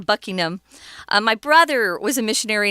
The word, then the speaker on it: Buckingham: So the Duke of Buckingham, I know a lot of Americans often say Buckingham, but that's not how it's pronounced. It's Buckingham. Kind of swallow that ham, Buckingham.